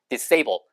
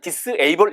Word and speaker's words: disable: 자, 그 다음에는 disable 그러면 가능하지 않게 만들다, 불가능하게 하다 해서 disable, dis가 반대말이니까 disable 발음은 disable 이렇게 하지 마시고 disable, disable, disable.